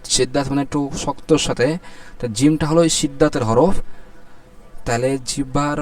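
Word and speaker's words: جيم: ফা এক আলিফ টেনে উচ্চারণ হচ্ছে যেবার আগার সামনের উপরে দুই দাতের আগার সাথে লাগিয়ে এক আলিফ টেনে উচ্চারণ হচ্ছে কি তারপরে জিম জিমটা কয় সেকেন্ড হবে এখানে দেওয়া আছে চার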